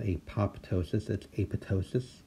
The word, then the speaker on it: apoptosis: photo psious so and remember that second P is silent it's not hate pop ptosis that's a photo sis like in pneumonia or